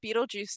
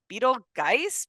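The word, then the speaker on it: Betelgeuse: Barbara, whenever they first like see it on the piece of paper, she's like Beetlegeist, Beetlegus, like, and she's like pronouncing it phonetically as like an American Yeah, based on how it's spelled because it has that GEU like kind of weird spelling.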